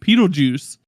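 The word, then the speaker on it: Petelgeuse: uh I'll talk about petle Goose or ped petle juice I think is how you say his name and he's from y'all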